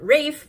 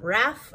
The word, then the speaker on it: Rafe: already have confirmation that Rafe is actually pronounced Rafe and not Raph as some of us thought listening to the audio